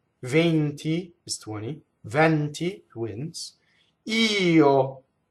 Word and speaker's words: io: So here we have a word that passes itself off as one syllable, and it's actually two syllables. You have to sing two notes to sing the word io, right? It's actually one note with a little grace note, right?